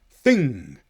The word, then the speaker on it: thing: And if that happens at the end of the word, then the G letter is silent or nearly silent. Listen to these. Sing. Thing. You'll just hear the tiniest click at the end of sing and thing.